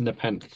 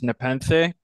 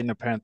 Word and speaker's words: Nepenthe: only one that gets it wrong but it's pronounced nepen well actually that's not quite true like the the ancient Greek sort of pronunciation is nepen but uh we say nepen because we think it sounds better oh okay